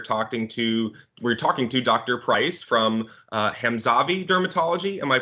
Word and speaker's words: Hamzavi: price from hem xavi dermatology am i pronouncing that correctly yeah all right perfect so dr.